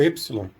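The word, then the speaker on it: ἔψιλον: valor que o médico do epsilon no grego clássico era um e breve e fechado e no grego moderno não existe essa distinção de aberto e fechado nem de breve long então a gente transmitir era simplesmente por e essa letra é a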